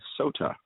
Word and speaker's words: Sotah: I am from the band Sotah. Oh, good. I actually pronounced it right because the last because like